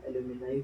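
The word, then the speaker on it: alumni: एल्यूमिनस इसका भी वही है, एल्यूमिनी हो जाएगा, एल्यूमिनाई हो जाएगा प्रोनाउंसिएशन, ठीक है।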